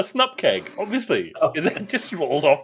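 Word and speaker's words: snupkg: symbols new get package how do you pronounce that one SN package no it's a snup keg obviously it just rolls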